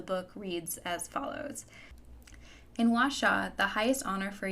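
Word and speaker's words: Huaxia: Empress Wu Zen set in the nation of washa a futuristic reinterpretation of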